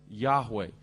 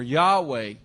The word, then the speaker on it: Yahweh: Jehovah and probably uh the Hebrew pronunciation is something like Yahweh no one knows for